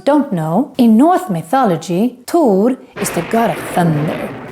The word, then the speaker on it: Tor: the movie thor in swedish we say tur and not thor and we don't write his name with an h just tur thor is a